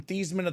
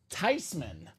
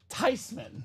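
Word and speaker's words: Theismann: granny look they're thinking about changing the pronun pronunciation of my last name from theeman ofman and she said in her very hard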